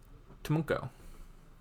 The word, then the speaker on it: TMNKO: How do you pronounce TMNKO? Tumunko.